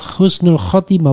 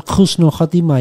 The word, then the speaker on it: husnul khatimah: Namun banyak yang masih bingung mengenai penulisan pengucapan kata yang benar ee sebenarnya dan pengucapan yang tepat adalah husnul khatimah. Bukan khususnul khatimah ya.